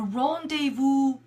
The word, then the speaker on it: rendezvous: have a meeting a rendezvous is more literary but we use we tend to use meeting more but rendezvous pronounced in the same way as French so if you're a